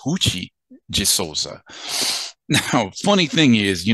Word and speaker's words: Ruth de Souza: to find out that her name is actually pronounced hoochie jesusa now funny thing is you know when I